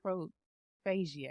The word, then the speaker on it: coprophagia: because I'm going to botch it up by pronouncing it, but it's COPROPHAGIA. Coprophagia?